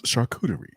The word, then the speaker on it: charcuterie: to pronounce charcuterie uh practice by saying shark coochie real fast five times okay whatever slow it down slow it down add a syllable and it's sharp it becomes charcuterie soccutery yeah charcuterie damn minorities other